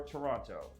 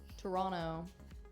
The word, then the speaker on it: Toronto: flung is Tacoma or Toronto Toronto why did you say it like that you don't pronounce the T thank you and good